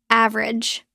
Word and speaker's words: average: Word has shown six average. It looks like a v rage. Three syllables. Natural pronunciation. Drop the middle e. It becomes of rage. Two syllables.